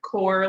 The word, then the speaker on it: Corps: conservation core um yeah you don't pronounce the p um it's like core like core of the earth um and our conservation